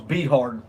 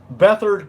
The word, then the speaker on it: Beathard: got past the 49ers Beathard I always thought his name was be hard that's how someone pronounced it last year Beathard is technically how you pronounce his name he played pretty decent